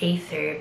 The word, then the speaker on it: Aether: So I guess it's still pronounced Aether, but they removed the E's.